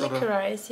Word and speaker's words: licorice: Nee, wie wird das auf Englisch ausgesprochen? Wird das Licorice? Licorice, ja.